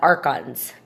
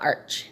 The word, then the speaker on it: archons: a friend yesterday about it's the eons and the archons, not arch, okay? So I was mispronouncing it.